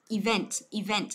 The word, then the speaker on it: event: Từ này không đọc là even nhớ chưa? Mà chúng ta sẽ đọc là event. Đó, event tức là chọn âm của nó giữa âm thứ hai. Âm đầu mình sẽ đọc là ý đấy, ý là mình đè nó xuống đúng không? Và vent mình nhấn nó vào. Event, event nhớ chưa?